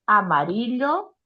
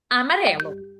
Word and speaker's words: amarillo: aqui, gente, o que vocês têm que pensar é o que estaria errado? É você falar amarelo. Amarelo é português, tá? Ou você inventar. Agora, a pronúncia da Isa tá muito bom. Amarillo, tá?